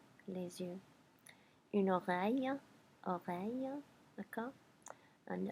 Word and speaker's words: les yeux: And then the plural is actually way easier, les yeux, les yeux.